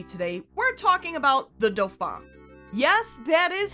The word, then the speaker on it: Dauphin: We're talking about the Dofa. Yes, that is how it's pronounced.